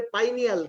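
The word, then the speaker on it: pineal: আসলে আমরা সচরাচর পিনিয়াল গ্ল্যান্ড বললেও এটার উচ্চারণ হবে পাইনিয়াল গ্ল্যান্ড। কারণ হচ্ছে এই গাছের এই গ্ল্যান্ডটা দেখতে পাইন গাছের কোণের মতো দেখায়, পাইন গাছের যে ফল তার মতো দেখায়।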